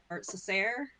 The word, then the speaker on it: Cessair: yeah, we pronounce it as a hard K sound on the show, but I think the actual pronunciation is more Cessair, as because it's an Irish name.